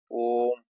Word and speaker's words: ओम: जैसे ओम का हम लोग उच्चारण करते हैं दूर तक, ओम, इस तरह की जो है प्लुत स्वर जो है ओम के अंतर्गत आता है, 3 मात्रा का समय लगता है, ठीक है।